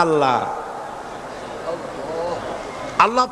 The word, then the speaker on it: আল্লাহ: আল্লাহ এই উচ্চারণটা আমাদের অনেকের হয় না, কেউ বলে না আল্লাহ। আল্লাহ পাকের উচ্চারণটা হচ্ছে, আল্লাহ পাকের নামের উচ্চারণ হচ্ছে আল্লাহ। মুখটা একটু গোল হয়ে যাবে, বলেন আল্লাহ আল্লাহ সুবহানাল্লাহ।